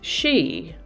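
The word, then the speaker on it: sidhe: end of the year today's word has an unusual pronunciation according to the way it's spelled it's pronounced she but it's spelled s-i-d-h-e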